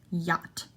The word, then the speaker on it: yacht: in the word yacht no C is pronounced yacht yacht sign no g